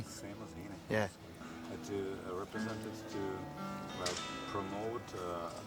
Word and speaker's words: Seamus Heaney: You were nominated together with U2 and Sinead O'Connor and Shomush, is that correct pronunciation? Shomush Haney? Seamus Heaney? Seamus Heaney.